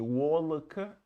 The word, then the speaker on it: walk: L не считается. Не walk, не. Walk to work. Первый с о, walk.